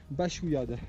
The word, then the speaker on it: Baxouillade: Les pics de Baxouillade. Baxouillade. Bachouillade. Bachouillade. Donc il y a un X là-dedans. Tu peux le prononcer à la catalane.